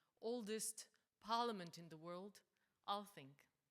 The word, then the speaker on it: Althing: And I'm talking about the oldest parliament in the world, Althing. Is that correct pronunciation? Althing, yes.